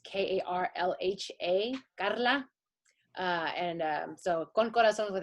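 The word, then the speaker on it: Karlha: trying to own the way that my name is spelled it's k-a-r-l-h-a carla and so con corazon's with a k i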